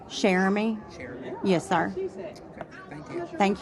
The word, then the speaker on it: Cheramie: How do you pronounce it? Jeremy.